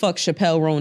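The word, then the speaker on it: Chappell Roan: you don't know who the Chappelle rone is I just watched her tiny Chapel rone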